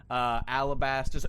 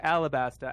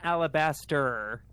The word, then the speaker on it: Alabasta: At least if whether you're on Arabasta or Alabasta, I think we can all agree it's not Alabaster. Well, that's definitely true. It is not that. Not with a T-E-R.